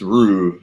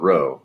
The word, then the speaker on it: Rue: Rue is pronounced Rue, not Row.